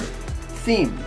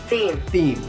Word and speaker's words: theme: them they mean but we pronounce this word with a double e sound theme is the subject